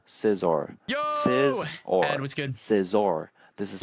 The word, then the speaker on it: Scizor: Like we were just missing out on all How to pronounce Scizor. Sizzor.